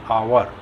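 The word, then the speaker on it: hour: जिन शब्दों में यच साइलेंट रहता है उनसे पहले एन का प्रयोग होता है, जैसे एन आवर, an honest man, N honourable man, N hair, उत्तराधिकारी आदि।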